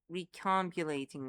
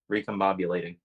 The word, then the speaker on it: recombobulating: You say you're the ones who keep uh recombulating me, but I thought for sure that was Tori. Recombobulating. Recombobulating. We thought we pronounced it like that. You said recomulating.